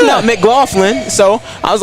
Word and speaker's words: McLaughlin: I said hey that's that's how it's pronounced that is how it's mck golin so I was like